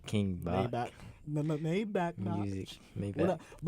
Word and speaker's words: King Bach: like King Maybach, so King Bach.